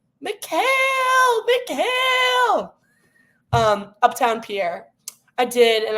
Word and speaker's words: Mikal: I need to start pronouncing his name right. Mikal.